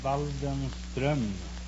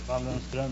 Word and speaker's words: Waldenström: No, it's umlaut on the O. In Sweden, you pronounce the name Waldenström. Waldenstrom? Waldenström, yes.